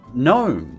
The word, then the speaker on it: gnome: Oh, we use plenty of silent G's. You better help me, or how will we ever pronounce, gnome, or gnarled?